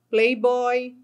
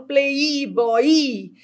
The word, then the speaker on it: playboy: Tá vendo que aqui eu não falo play boy? Porque aqui eu pronuncio como uma semivogal playboy rapidinho. Eu não falo playboy i e nem falo play boy, eu falo playboy.